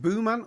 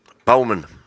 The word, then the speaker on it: Bowman: Is it Booman or Bowman? Bowman. Bowman. Bowman. Bow as in bow of a tree?